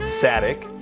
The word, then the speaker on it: Satek: Sadic rhymes with attic.